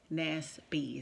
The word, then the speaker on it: NASP: NASP is how you say that.